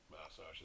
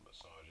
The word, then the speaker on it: massage: Like massage is how it's pronounced in Australia and England, and massage in North America.